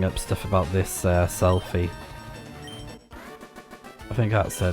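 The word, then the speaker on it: Selphy: just reading up stuff about this uh selfie. I think that's her name. It's spelled like um s e l p h y y as we saw.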